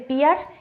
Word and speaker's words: PIAR: observación Yo sé que muchas personas dicen el piar yo lo pronuncio con la sentación eh en la otra sílaba yo digo piar listo Déjenme en los